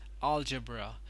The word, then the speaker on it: algebra: on the wrong syllable it is actually not algebra it is algebra the stress is put on the first syllable over here I'll algebra and this one is